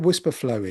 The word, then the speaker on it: Wispr Flow: So what Whisperflow is, and it's spelled WISPR flow, and it's a dictation tool.